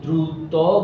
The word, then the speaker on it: দ্রুত: এরপরে এ ধরনের ধরো এই যে দ্রুত গতি, এখানে ত থাকলেও মূলত সেটা ওকারান্ত উচ্চারণ, দ্রুত দ্রুত গতি গতি